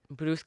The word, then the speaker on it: Brusque: Brusque, yeah.